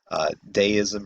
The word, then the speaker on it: Deism: Deism, or deism, pronounced both ways, was a popular Enlightenment